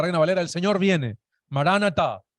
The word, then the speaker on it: Maranata: Maranata, se pronuncia mayormente de esa manera.